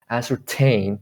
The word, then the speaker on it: ascertain: say it like ascertain you cannot say because the stress is on t so when stress is on t you should pronounce the t i mean very clearly you know ascertain t not d anymore in american pronunciation